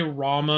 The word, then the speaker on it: Rama: And the reason I still say Rama instead of rum is because both versions are actually accurate. It just depends what part of India you're in. And I would rather say Rama cuz that's literally how it's spelled.